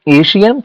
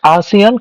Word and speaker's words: ASEAN: See, few people can pronounce it as an Asian, few people can pronounce it as an ASEAN, but the correct pronunciation is ASEAN countries.